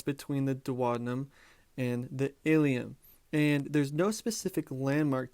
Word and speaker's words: ileum: to be considered the ileum. Now don't misspell ileum for ileum. They're pronounced the same, but remember, there's a